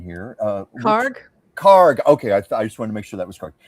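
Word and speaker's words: Kharg: Um, Wimsatt, I need help with the pronunciation here. Uh, what Karg? Karg, Okay, I I I wanted to make sure that was correct.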